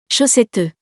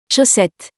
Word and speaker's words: chaussette: Chaussette. Chaussette. In this word, we don't pronounce the last E, though the second is the correct one.